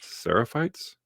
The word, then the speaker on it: Seraphites: Seraphites.